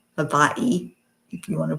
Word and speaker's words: Hawaii: It's all Hawaii. Havaii, if you want to pronounce it correctly.